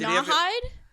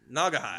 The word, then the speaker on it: Naugahyde: he didn't get How do you caught cheating pronounce at it? poker. Nawhide? Naugahyde.